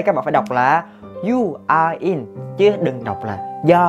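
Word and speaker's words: 유아인: viên, nam diễn viên điện ảnh nổi tiếng, You Are In. Đấy, chúng ta sẽ có phiên âm tiếng Việt mình đọc là Yo hay là Yo Are In, nhưng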